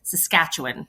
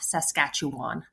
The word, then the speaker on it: Saskatchewan: So the proper way to pronounce it is like it's spelled with I's instead of A's. So it's Saskatchewan, not Saskatchewan.